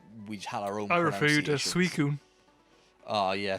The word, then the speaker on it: Suicune: higher Oh Myra fuder suicune oh yeah for ages we called it sua seen or something like that because we were between